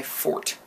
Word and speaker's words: Ffort: So, here is my fort. It's spelled like that because the second F is silent.